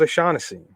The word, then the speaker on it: O'Shaughnessy: the one time with my man uh james o'shaughnessy or oceanic hennessy however you want to pronounce it um you know i'm rolling with them this week at 2 700.